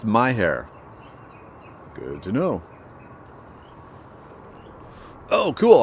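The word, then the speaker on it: Mexia: of bats okay so m-e-x-i-a is pronounced my hair good to know oh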